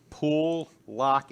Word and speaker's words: Pool, Locke: I'm three-quarters Polish, so if you say Pool, Locke quickly, it sounds like Polak and Associates.